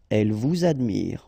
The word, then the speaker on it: elle vous admire: verb, in that case, you should make the liaison between the two. Il nous aide, elle vous admire, all right? So, z, z here as well.